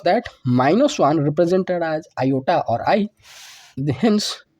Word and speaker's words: iota: is represented as the symbol I pronounced as Iota this symbol I was